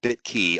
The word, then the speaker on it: BitQy: cryptocurrency ethereum token uh called bit key bitqy they pronounce it bit key on May 1st 2017